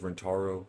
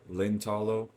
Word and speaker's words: Rintaro: Alright, so this one is just basically Leskinen calls Rintaro Lintalo because Japanese doesn't really have an R or an L. Its correct pronunciation is somewhere in the middle.